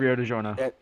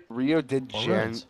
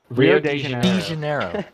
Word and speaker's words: Rio de Janeiro: It's not delivered, it's Rio de Giorno. Rio de Janeiro. How do you say it? Rio de Janeiro. Or de Janeiro.